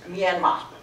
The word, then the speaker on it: Myanmar: about that name myanmar in the country it's pronounced myanmar and uh it's an